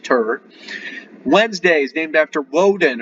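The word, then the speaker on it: Tyr: tuesday is after two or tear pronounced turret wednesday is named after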